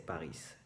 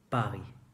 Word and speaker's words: Paris: No se dice París, se dice Paris.